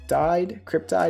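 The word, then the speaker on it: Cryptyde: Announced that May 18, 2022 has been set as the record date for the dividend of shares of common stock of Cryptide is how you pronounce it, to be distributed to Vinco stockholders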